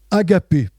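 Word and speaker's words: ἀγάπη: L'amour de Jésus-Christ, c'est un amour qui se prononce en grec agapé.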